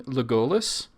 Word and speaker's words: Legolas: Like you sometimes lapse into saying Legolas, which is not incorrect.